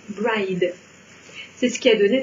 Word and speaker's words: Brigid: Non, généralement, moi j'entends prononcer Morrigan et Brigide. En fait, c'est une erreur. On devrait prononcer Morihan. On devrait même prononcer Morihan en faisant un H de gorge. Et celui-ci, c'est sans doute le plus surprenant, ça se prononce bride.